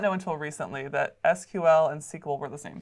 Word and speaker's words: SQL: of this got started it actually was called sequel so over some time there was Evelyn and some legalities and the name change to simply just SQL so the technical pronunciation is SQL that's actually what you'll